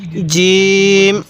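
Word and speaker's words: جيم: তাহলে এই হরফটির নাম হলো জিম। শক্তভাবে উচ্চারণ করব।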